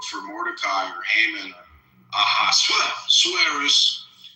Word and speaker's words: Ahasuerus: Mordecai or Haman or Ahasuerus. How do you say that guy's name? The king of Iran back then? What's his name? Ahasuerus, or how do you say it?